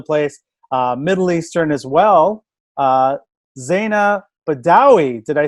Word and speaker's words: Zaina Badawy: Zaina Badawy.